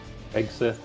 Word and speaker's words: Hegseth: Hegseth, is that how you say it? Hegseth, yeah.